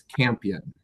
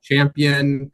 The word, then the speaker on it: Campion: own last name correctly, but what I say is Campion. Campion. I get I get Champion. Campion. I get a variety, but I pronounce it Campion.